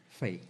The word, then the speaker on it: Fahy: By the way, how do you pronounce? Fay. Do nosso irmão Fay.